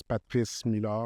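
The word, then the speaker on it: Patrice Meille: tell people who you are so the correct pronunciation is Patrice mil and it's a French name so I could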